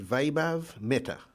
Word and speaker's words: Vaibhav Mehta: um correct me if i'm spelling if i'm pronouncing your names correctly or incorrectly um and vaibhav meta that's correct yes you got it right nice